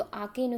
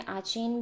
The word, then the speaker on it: Aachen: आकेन English में इसका spelling है AACHEN, आकेन। कहीं कहीं हिंदी में आचेन भी मिलता है, बट मोस्ट प्रोबेबली आप जो प्रोनाउंसिएशन पाएंगे वो आकेन है, आकेन।